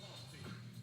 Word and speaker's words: Monty: My name is Monty. Pronounced with the empty.